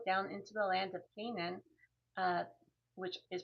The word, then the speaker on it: Canaan: um sent them to his homeland because he had traveled Abraham had traveled down into the land of Canaan uh which is pronounced ginan and uh but he didn't want to get a local for his for his um son to marry.